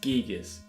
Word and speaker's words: Giygas: Despite an unofficial advertisement calling him “GUY-GUS/GAS”, Marcus and his staff always pronounced their localized name as “GEEG-US”.